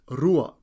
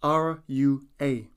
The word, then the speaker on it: rua: numbers from 1 to 10 number one is is spelled t a i repeat after me number two is Rua spelled r u a repeat after me Rua Rua number three is T spelled t o